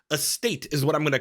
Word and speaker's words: AST8: Estate? Estate is what I'm going to call it because that sounds like the word estate, like a big old fancy mansion.